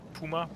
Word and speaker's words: Puma: Will he queue a Puma? Or Puma? Puma. We are pronouncing it properly in German.